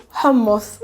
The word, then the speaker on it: hummus: going to use you how to say correctly hamos in arabic let's begin so hamos is probably